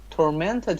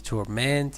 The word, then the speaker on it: torment: Persistent headaches tormented him. Very good. If it is used as a verb, it is torment.